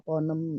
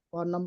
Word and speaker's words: Ponem: kan pengennya nanti ada Ponem satu, 2, dan 3 gitu Umi. Jadi ini sebagai awal gitu ya, awal perkenalan siapa sih Ponem itu. Nah, itu sebenarnya itu. Rupanya bacanya ponem ya, bukan ponem ya.